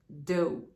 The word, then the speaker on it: dough: его уже встречали и произносится оно до очень похожее на него